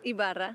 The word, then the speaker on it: Ibarra: Ibarra. Ibarra.